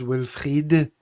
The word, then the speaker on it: Wilfried: So you can avoid any French pronunciation there. You'll be pleased about that. Although it is Wilfried, Stephen.